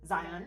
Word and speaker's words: Zion: Zion.